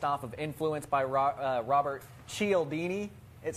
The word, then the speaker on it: Cialdini: My core of everything is based off of Influence by Robert Cialdini.